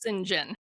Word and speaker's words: St. John: John, but it's pronounced singing, which I have to believe even in 19th century England was an exceedingly odd name, but there we have it. Um, so Singen is preparing to become a missionary to India.